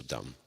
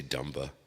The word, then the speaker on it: dumb: D-U-M-N is down like still dumb. The N silent, just like the B is silent. Dumb. You don't say dumba. You don't say numba. You say numb. The B is completely unnecessary.